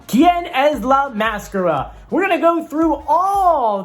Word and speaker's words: ¿Quién es la máscara?: the mask singer mexico or as it's pronounced and i hope i don't say it wrong kien es la mascara we're gonna go through